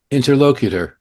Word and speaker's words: interlocutor: Interlocator. Interlocator.